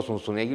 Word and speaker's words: Zunzunegui: Yo ni siquiera sé pronunciar mi apellido aquí. Yo llego, digo Sunsunegui, lo escriben con ese.